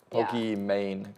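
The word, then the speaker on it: Pokimane: duo with pokemean yes is that how you say it pokeymane pokemane like gucci mane yeah but she actually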